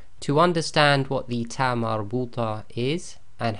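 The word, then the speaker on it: تاء مربوطة: And the reason for that is sometimes this TaaMarBooTah behaves as the normal ta, and sometimes it will behave as the soft ha.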